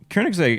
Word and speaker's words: Koenigsegg: Koenigsegg. It's the Swedish pronunciation.